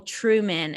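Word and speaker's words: Trueman: carl with a c carl truman and that's true man like spelled with an e there true okay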